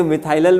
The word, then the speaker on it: Methylal: फिर ये देखें METHYLAL प्रोनाउंस करिए, हाँ हाँ, हम इसको प्रोनाउंस करते हैं मिठाई लाल अंग्रेजी में मिथाइलल बोलिए आप, है ना, हिंदी में मिठाई लाल, तो याद हो जाएगा मिठाई लाल, फॉर्मल्डिहाइड से मिठाई लाल बनता है ना।